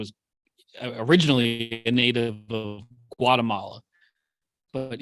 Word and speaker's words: Guatemala: He is what I've always referred to as originally a native of Guatemala, but he was saying it without the hard G, more like like Guatemala.